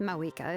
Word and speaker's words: Mavuika: She's not pronouncing the V in Mavuika's name. Are we supposed to do that too? Are we supposed to say Mawika and not pronounce the V?